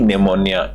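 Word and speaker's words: pneumonia: गई थी with P निमोनिया इसको पी साइलेंट रहता है निमो ही बोला जाता है ट सिक्स मंथ ओल्ड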